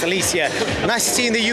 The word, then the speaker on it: Alycia: foxtrot alicia from gardener last time i got your name wrong i think i call it alicia it's alicia nice to see in